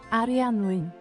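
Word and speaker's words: Arianwen: Arianwin. No, that's right. It's right. It's right. I'm right. We're good. We're good. That's the Welsh word.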